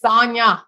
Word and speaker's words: Sonja: Her name is spelled with a J, but it's Sonja. She say like lasagna, I mean, not lasagna. Sonja, not lasagna. Oh my God.